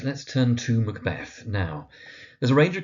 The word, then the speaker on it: Macbeth: So of course we have our protagonist, Macbeth, sometimes Macbeth, also valid.